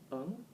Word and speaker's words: Ng: assembly being used against recent people like Roy Ng, that's how you pronounce his name, his bluntness and, frequent interruption of opposition members when they are talking.